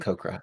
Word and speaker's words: Aarakocra: It's pronounced My name- Aarakocra, actually.